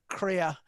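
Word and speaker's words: Krier: from the norm and her pen name is LM Crea and she she's she's put this herself it rhymes with queer so that's how to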